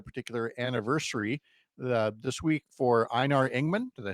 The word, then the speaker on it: Einar Ingman: And you've got a particular anniversary this week for Einar Ingman.